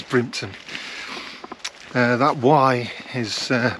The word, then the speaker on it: Brimpton: brining tuna I'm in brimpton which is which means uh the estate that belongs to Bruna or Brun well maybe should pronounce it Brin because it comes out as brimton uh that why is